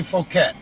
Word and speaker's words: Fouquet: I would say Fouquet. Okay, you say Fouquet, Yeah, I say Fouquet. tomato. Pajama. I'd say it rhyme with bouquet.